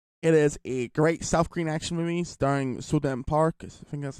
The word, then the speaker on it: So-dam Park: I think it's So-Dam Park when you pronounce it, when it's in English, because I think in South Korea, and same with Japan, you say last names first, then the first name.